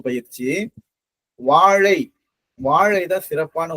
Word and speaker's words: வாழை: ழா தமிழ் தமிழ் நம்ம உச்சரிக்கும் போது எதுல இருந்து இந்த லகரம் வந்து ஒரு உச்சரிப்பு பயிற்சி. வாழை வாழை தான் சிறப்பான உச்சரிப்பு பயிற்சி.